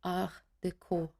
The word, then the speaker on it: Art Deco: Art Deco, written like that, but pronounced in French Art Deco.